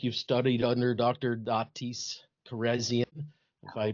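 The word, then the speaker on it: Kharrazian: Datis Carzian if I pronounced that correctly. You actually pronounced his name better than I do. I would say Corasian. It actually is carazzian.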